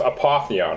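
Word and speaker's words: Apotheon: that it's all falling into place so it's pronounced apathy on right mm-hmm we're gonna be playing apathy on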